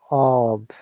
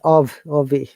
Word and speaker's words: of: Like the lot of, off, Yeah, remember we do not pronounce ob. Of, yeah, it's ov.